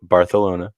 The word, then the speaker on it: Barcelona: It is pronounced Barcelona. That is how you say that.